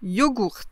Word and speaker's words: yogourt: Mais vous pouvez aussi rencontrer yogourt, yogourt, yogourt. Vous entendez la différence? Yaourt, yogourt. Donc là on prononce le G. Et puis on commence avec un O, yo, et pas avec un ya.